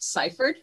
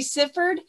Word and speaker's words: Syphard: just a correction uh my last name is pronounced ciphered okay okay just you know in case people are talking you can correct them too thank you thank you most people want to say suffered and um it just is pronounced differently than